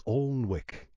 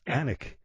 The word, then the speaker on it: Alnwick: you say it, but somehow I said it was Alnwick, and it's Alnwick. And it's, I've almost got a tattoo on my arm now saying that it's Alnwick because the phone, when